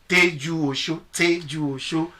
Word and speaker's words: Tejuosho: Now the Tejuosho, most people don't even really know how to pronounce that Tejuosho. It's Egba language. It's Tejuosho, which means take care of Osho.